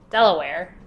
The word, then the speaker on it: Delaware: So, am I correct with the pronunciation? Delaware? Delaware is pretty correct, yeah. It's Delaware, yeah.